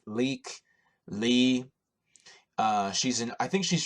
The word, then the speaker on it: Lykke Li: watching an artist called I think her name is pronounced leak Lee she's an I think